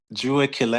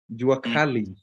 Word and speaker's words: Jua Kali: And it's the saying called Jua Kile. Am I pronouncing it right? Is it Jua Kile? Which one? Ju was Jua, and the next word is Kali. JUA Juakali.